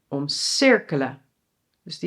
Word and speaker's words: omcirkelen: "OMdraaien" = the emphasis on OM. So it is separable. And "omCIRKELEN"= so it is inseparable. Well, three basic sentence structures